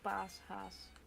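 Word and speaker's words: Paashaas: Easter is Pasen, and then the hare is named Paas Haas. Haas is hare.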